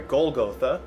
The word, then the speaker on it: Golgotha: tasked with going - sorry Golgotha I've been mispronouncing it - was going to